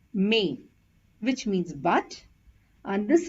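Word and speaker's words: mais: over the letter i this is pronounced as May which means but and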